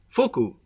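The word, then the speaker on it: 福: The Japanese character in the circle is pronounced fuku and means happiness, fortune, or wealth in English.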